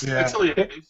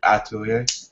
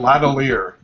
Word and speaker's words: L'Atelier: Atelier. Yeah. You don't really pronounce the L. You don't really pronounce it. You can put a little more emphasis on the A, like Atelier.